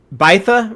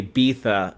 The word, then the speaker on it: Bytha: But yeah, we meet Bytha, right?